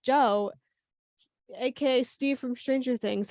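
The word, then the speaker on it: Djo: you say his name I think it's just Joe is it just Joe just Joe spell dj-o it's literally just Joe AKA Steve from stranger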